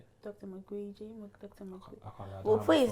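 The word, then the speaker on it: Mukwege: Same, Dr. McGreegee. That's how they say his name. Dr. McGreegee.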